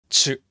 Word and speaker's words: ちゅ: We place the tip of our tongue in a low position. The bridge of our tongue touches the hard palate. The mouth shape is also a key point. We pucker our mouth.